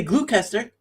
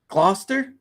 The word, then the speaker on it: Gloucester: GL I could say glucer I could say glucer right I think no how do you say it Gloucester Gloucester gler Gloucester okay that's another quir